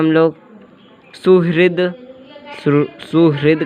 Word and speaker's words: सुहृद: हम लोग देखते हैं, इसका प्रोनाउंसिएशन नहीं करते, सुहृद डायरेक्ट बोलेंगे द।